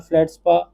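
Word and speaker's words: feldspar: And others are फ्लैट स्पा, ये फ्लैट स्पा होता है, इसमें आर साइलेंट होता है।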